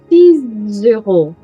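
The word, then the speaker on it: six: Quando eu tiver uma vogal, a pronúncia do som será o som de Z. 6 euros.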